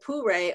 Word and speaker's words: pu-erh: And I believe that she pronounced it Pure, although I wasn't going